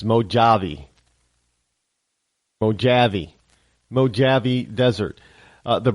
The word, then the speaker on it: Mojave: Rush limbo's real Linda if you sound it the way it's spelled it's mojavi mojavi mojavi desert uh